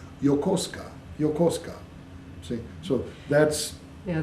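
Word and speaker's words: Yokosuka: they say oh yeah I I stay in yakusa I'm up in yakusa yakusa would be spelled y a k u s u k a but it's not it's y o k o h yosa yosa see so that's yeah the fun the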